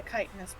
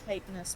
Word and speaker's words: chitinous: chitin sort of plating, the chitinous plating, actually, sorry, that's not how you pronounce that word. The chitinous plating, you can see little bits of the purple mushrooms sort of sticking out, Fucked up.